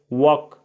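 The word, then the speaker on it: work: कहां काम करते हो इसमें आर का उच्चारण नहीं होता है इसको पढ़ा जाता है है वक वक बहुत लोग आर का उच्चारण करते हैं बहुत लोग नहीं करते हैं दोनों सही है इसमें किसी का रंग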